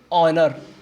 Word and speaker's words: honour: HONOUR इसको बोलते हैं ऑनर। अब तुम कहोगे सर शुरुआत में H है तो इसको हॉनर क्यों नहीं कह रहे, क्योंकि जो वहाँ पर